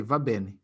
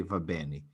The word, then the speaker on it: va bene: Otherwise, I just say va bene. You see, that's not the way they say it, okay? So it sounds strange to say va bene.